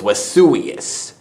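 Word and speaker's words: Vesuvius: understand Latin for example the letter V is pronounced as aw case in point the volcano that vaporized Pompeii was Wes suyus likewise the letter C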